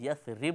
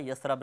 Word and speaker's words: یثرب: بھی یاد رکھیے گا صحیح تلفظ یثرب ہوتا ہے، یثرب نہیں۔ مشہور یہ ہے کہ